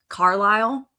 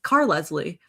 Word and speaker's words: Carlisle: I mispronounced what is his real name, Carlisle. I in my 11-year-old brain or however old I was like Car Leslie, and that's how I read it because like nobody ever